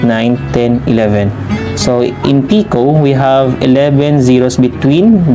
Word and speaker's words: pico: eight then one and our last picot is pronounced as pico with a symbol of